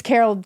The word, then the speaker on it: Caryl: Yeah, Carol. Oh. Um, and it's Carol K. Uh, C A R Y L. Oh, that's how you spell it.